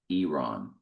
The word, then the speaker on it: Iran: Iran is pronounced Iran. Iran. Not Iran.